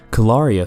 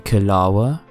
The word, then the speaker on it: Calaria: You're funny, Kalawa, mispronouncing her name. Calaria. It's Calaria, she corrects him.